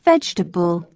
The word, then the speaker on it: vegetable: never rhymes with nation say prefer but preferable comfortable and vegetable bee must not be